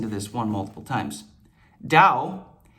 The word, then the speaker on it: Tao: Tao, why is it spelled with a T? That makes 0 sense.